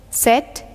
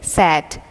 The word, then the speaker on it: set: The common mistake in pronouncing this verb is sat. Usually people pronounce it as sat. No, that is S-A-T, and that's the second form of the verb sit that we will take up later in this part. This is S-E-T, set.